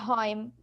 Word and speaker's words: rhyme: Again, right here, the H, I will not say rhyme. No, I will say rhyme, and the H is silent.